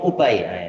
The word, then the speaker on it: Ubay: bacanya gimanain Abdullah bin Ubay Abdullah bin Ubay bukan bin Abi bin Ubay bin salul he yang